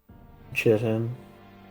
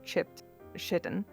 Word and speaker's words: chitin: How the fuck do you pronounce this? Chitin.